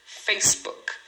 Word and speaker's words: Facebook: Rosto é face, uma sílaba e o famoso Facebook, é, são duas sílabas em inglês, tá? Em português, o pessoal fala Facebook, você fala quatro sílabas, mas em inglês essa palavra só tem duas sílabas, uma é face e a outra é book.